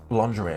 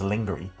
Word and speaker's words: lingerie: I don't believe somebody who pronounces lingerie as lingery or whatever he said. I don't believe a person who pronounces it lingery has the ability to come up with the phrase digital dominance.